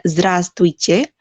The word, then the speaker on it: Здравствуйте: Di sini ada Здравствуйте, walaupun dia ada huruf W-nya di sini, tapi dibacanya tuh Здравствуйте aja, nggak usah pakai V.